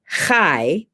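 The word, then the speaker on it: חי: you take the letters the hebrew word for life is hai like spelled like like chai t-c-h-a-i but you got to get that hairball guttural thing going on so it's kai and if you take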